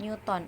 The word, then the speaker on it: Newton: Nah, misalnya di sini 60 Newton atau N. Tulisannya Newton, tapi bacanya Newton.